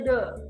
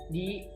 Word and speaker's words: the: Nah, THE, de, setelah itu huruf konsonan. Ya, huruf konsonan itu huruf selain huruf A, E, I, U, O. Contoh, the book, the pen. Nah itu Pak bacanya de. Nah kalau dia de ketemu huruf hidup, huruf yang huruf depannya A, E, I, U, O. Contoh, di apple, di umbrella. Nah itu Pak bacanya di, bukan de.